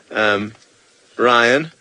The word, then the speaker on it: Ryan: Oh, sorry, you, Brian with the silent B. Ryan.